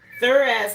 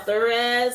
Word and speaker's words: Thurisaz: Okay, it's spelled Thurisaz. And it's also known as Thor's hammer or a thorn.